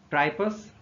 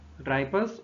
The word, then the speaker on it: Tripus: चार small bones की, जिसको आप प्रोनाउंस कर सकते हैं, फर्स्ट तो ट्राइपस, TRIPUS, ट्राइपस, और इंटर कैलेरियम, और तीसरी है स्कैफियम, SCAPHIUM, और चौथी है क्लॉस्ट्रम, CLAUSTRUM।